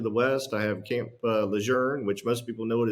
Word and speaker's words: Lejeune: there uh to the West I have Camp Lejeune which most people know it is Camp Lejeune